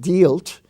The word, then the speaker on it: dealt: uh the word delt d-e-a-l-t is not dealt it's dealt and is pronounced like a short e delft were the words